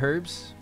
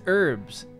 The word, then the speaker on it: herb: It's actually the American version is herb. The British version, UK version, Irish version is herb. We pronounce the letter that's in the front of the word.